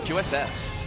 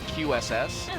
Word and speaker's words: QueueSS: this other player's name uss uss well it could be qs i think it i think of qss because the word queue because of the word queue also it's uh the two